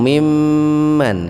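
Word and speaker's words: مِمَّنْ: mimman ini sama nih mimman pun asalnya mim Nun mim Nun itu Nun yang pertama dihilangkan diganti dengan tasdid makanya disebut gunah bacanya mendengung mimman itu gunah itu Pak karena sebetulnya ada Nun di situ awalnya jadi siapakah yang lebih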